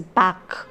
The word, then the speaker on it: Bach: the fugue js bach i had pronounced it bash earlier i'm sorry it is back okay j s bach